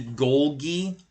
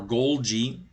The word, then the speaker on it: Golgi: It's called the Golgi, or Golgi, however you want to pronounce it, apparatus.